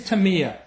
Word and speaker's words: Tamiya: a couple questions M how do you pronounce it is it tamama or Taya tamama it is tamama we get a lot